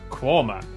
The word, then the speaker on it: Quernmore: Gotham Gotham followed by a stop in quernmore quma before finishing up in alwick anik which is